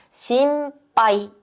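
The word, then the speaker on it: 心配: 방금 했던이 걱정이라는 단어인데음 발음 뒤에 마미무메모, 바비부베, 파피푸가 오게 되면 미음받침의 역할을 하게 돼요. 그래서 심빠이 요렇게 발음을 해 주시면 됩니다.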